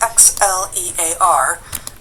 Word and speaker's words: Xlear: It's Xlear. That's X L E A R but it's pronounced Xlear.